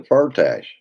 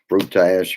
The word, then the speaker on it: Firtash: I've heard it pronounced so many different ways. It depends on whether you're watching CNN or MSNBC. Is they said it was Firtash, so that's what I always say.